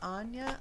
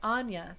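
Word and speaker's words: Áine: googled how to pronounce her name was it anwa anya anya that's her name anya but she's celtic so it's a-i-n-e but the goddess's name is actually anya anya adaptability okay okay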